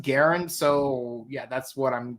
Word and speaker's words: Garon: Earth Garen and yeah like I was thinking like it's supposed to be Earth gon but uh the but the English stuff they pronounced it Garen so yeah that's what